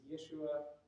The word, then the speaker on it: Yeshua: But yes, we would find a rabbi named Jesus, except he wouldn't have been pronounced Jesus, Yeshua, and Ben Yosef, son of Joseph.